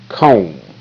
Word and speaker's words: comb: Okay, now the B is silent, so you won't see the B in the sound box down there.